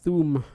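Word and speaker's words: Thu'um: All right, the sound of power, the thurn, pronounced thum.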